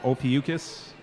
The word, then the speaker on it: Ophiuchus: playing the fest a band from Tennessee called Ophiuchus and I probably pronounced it wrong but no you pronounced it